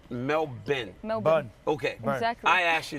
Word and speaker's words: Melbourne: is the way SP just put like a bin on the end melbour just just cut it half the word melbin Mel okay I asked